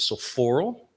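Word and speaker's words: Sophoorl: So my legal American name, what's on my passport, my driver's license is so Paul, which is has always been pronounced as Sophoral.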